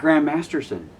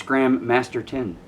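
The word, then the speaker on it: Gram Masterson: name gr Masterson why it's not Grand Masterson it's gram masteron a well you should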